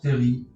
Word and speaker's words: terril: d'ordre de cette dernière le terme se prononcent terry et peut aussi s'écrire